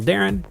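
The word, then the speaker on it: Deron: I am at digital Darren which is spelled D e r o n for some reason tell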